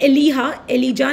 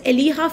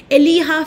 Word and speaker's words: Elijah: William Broome and Elijah nahi bolte, it's Eliha Fenton. Okay, Jacob, you pronounce as H here. Eliha Fenton, that's William Broome.